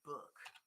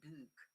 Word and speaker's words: book: Again, I say book, okay? But if you go up north, in some region of England, some people say book. Those are regional pronunciations.